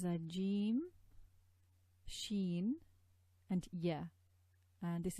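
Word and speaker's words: ج: So we start from jim, you see in this diagram, raising the tongue against the hard palate produces Jim.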